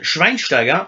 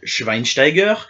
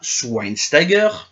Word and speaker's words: Schweinsteiger: du CH d'un côté le sch se prononce che comme chez le milieu de terrain de Manchester United Bastian Schweinsteiger ou Bastian Schweinsteiger et sûrement pas sweinsteiger le C quant à lui